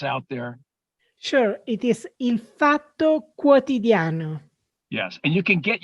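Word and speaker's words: Il Fatto Quotidiano: name of this media organization can you just pronounce it for our audience out there sure it is infato quotidiano yes and you can get you go online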